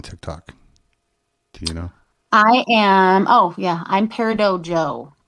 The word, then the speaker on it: Peridot: I'm Peridot Joe. So Peridot, like the gemstone, like the birthstone.